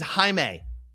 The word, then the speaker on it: Jaime: His name's Jaime.